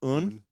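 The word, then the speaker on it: Aon: Yeah, it's pronounced un and it's finished in an Amaron cask.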